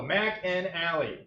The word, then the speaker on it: McAnally: So Mac and Allie is how you say it. It's kind of like Steak and Shake.